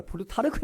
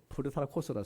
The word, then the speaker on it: 플루타르코스: 영웅전을 지은 사람이 1600년 전에 플루타르코스라는 사람이 있었는데, 제가 어릴 때는 이제 플루타르코스가 플루타르크 해가지고 영웅전 했거든요. 아마 그게 이제 일본식 발음 같아 보는 거예요. 진짜 이름은 플루타르코스라는 사람이 1600년 전 사람이